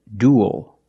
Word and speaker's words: duel: the first word is duel duel we see UE L making the same sound as before like pool and cool duel and it ends